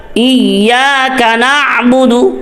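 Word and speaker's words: إياك نعبد: ইয়াও এখানেও ঠোটোল হবে ইয়াকা ইয়াকা নাবুদু অনেকে এই ভুলটা করে ইয়াকা নাবুদু ইয়াকা নাবুদুটা কিন্তু আলাদা শব্দ ইয়াকা নাবুদু ইয়াকা নাবুদু আলাদা শব্দ তবে পড়তে গেলে আরো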